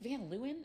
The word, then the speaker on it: Van Leeuwen: I like Van Leeuwen. Is that how you Oh pronounce it?